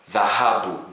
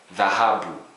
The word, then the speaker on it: dhahabu: We don't have that in English, but it could be pronounced as the word this. Okay? A good example in Swahili, dhahabu, gold, dhahabu, gold.